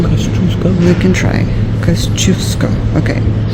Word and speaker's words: Tadeusz Kościuszko: All right, this is the guy whose name we cannot pronounce. Tadeusz Kościuszko. Right, Kościuszko.